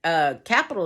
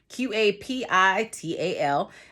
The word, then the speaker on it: Qapital: Capital is spelled with a Q, Qapital.